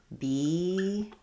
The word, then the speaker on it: beagle: So beagle has the E sound, like beagle, and bagel has the A sound, like bagel.